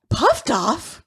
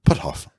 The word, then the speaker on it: Puthoff: Puffed off? Puftoff. Puffed off. Spell it. Puthoff. Put, P-U-T. Hoff. H-O-F-F. Put off. Puthoff.